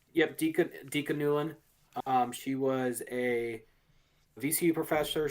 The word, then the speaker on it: Dika Newlin: Is that how the name is pronounced? Yep, Dika Newlin.